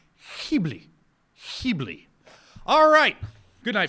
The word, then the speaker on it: Ghibli: on this phone apparently it is a soft G aspirated it should be he bleep he bleep alright good